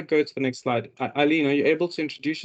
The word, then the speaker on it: Eilleen: My name is spelled Eilleen, and I always say just think of Einstein or Eisbein. The E is silent, and it's really just for decoration, so you don't say the E, you just read it from the I.